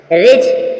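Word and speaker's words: ridge: D silent है गर्ज रिज रिज मीस पर्वत रिज रिज मीस पर्वत साइलेंट है इसी प्रकार आपने क्या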